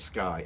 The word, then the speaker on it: Skye: I decided I would get, my daughter's name is Skye, S-K-Y-E, but you pronounce it Sky.